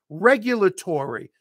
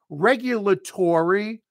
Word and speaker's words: regulatory: But yeah, we pronounce this word as regulatory, just like dormitory. mandatory. It is mandatory that you watch me and improve your English. It's mandatory. And we are working in a regulatory situation or whatever.